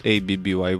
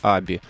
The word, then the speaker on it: ABBYY: вроде бы вполне Да некоторые читают abby некоторые вообще правильное имя компании произносится Аби И это не аббревиатура